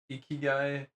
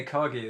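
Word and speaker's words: ikigai: The eeky guy. I don't even know if I'm saying that right. The philosophy of ekag. Oh yeah, ekag. That's what it is. Yeah, I was saying it wrong.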